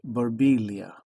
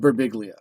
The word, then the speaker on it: Birbiglia: Italian people who would go, in Italy, it's pronounced Barbilia. And he'd be like, well, in America, you're annoying. So that's his response to that. So you nailed it with Berbiglia.